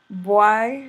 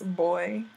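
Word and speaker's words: bwoy: Boy is boy. Come here, boy. You know, hey, look, boy. Come here. So, boy, boy, boy. It's spelled B Y O Y. B W O Y or B W O I.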